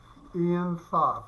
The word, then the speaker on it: Ein Sof: Jewish mystics often refer to it as Ein Sof. It's spelled E-I-N, then S-O-F, which means, excuse me, endlessness.